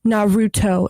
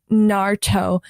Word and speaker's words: Naruto: And then she's like, it's not pronounced Naruto, it's pronounced Naruto. And she would genuinely get so heated and mad, like if you pronounce the names like wrong. And she's like, you need to pronounce it the correct Japanese way or you're being racist.